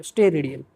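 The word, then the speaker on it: steradian: इसको कैसे प्रोनाउंस करोगे आप, वो आप देख लो, स्टेरेडियन।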